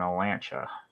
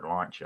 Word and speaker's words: Olancha: Nearest communities are Big Pine, Lone Pine, and Olancha. Or Lancha, I don't know how to say it, Olancha.